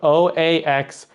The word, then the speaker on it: Oaxaca: It doesn't sound like how you would say it. Or spell it, I should say, maybe. If you look at the word, you wouldn't understand how to say it.